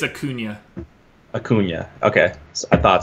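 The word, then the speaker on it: Acuña: lefties really well oh we have fun peoples pronunciation so it's a Cunha a Cunha okay I thought so not even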